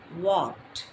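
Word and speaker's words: walked: அதோட past form என்னன்னு பார்த்தீங்கன்னா வாக்ட்.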